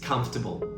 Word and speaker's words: comfortable: Another common one is comfortable. People often struggle with pronunciation of this word, but the correct stress is on the first syllable. Comfortable.